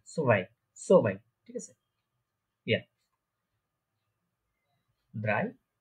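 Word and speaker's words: zwei: নিচের দিকে ব্যাকা করবেন, তারপর প্রোনাউন্সিয়েশনটা করবেন সোভাই, সোভাই।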